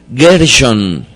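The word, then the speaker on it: גרשון: así el hijo de moshé era gershome con m al final con mem al final y este personaje se diferencia porque al final no es mem si no es nun gerson a lo largo de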